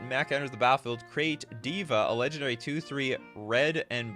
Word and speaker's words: D.Va: It's pronounced Diva. All right, fair enough. Diva.